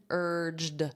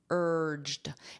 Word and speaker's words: urged: Notice that pronunciation urged because this ed d is pronounced as a soft d urged and it really sounds like just an sound urged.